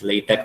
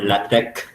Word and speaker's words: LaTeX: is called latex uh the pronunciation at the end is uh based on the character kai so that's why it's it's read as latex or lattek um it's uh so